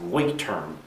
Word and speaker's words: Leuchtturm: And I pronounced I think he said it's pronounced Leuchtturm, the notebook that I use for bullet journaling.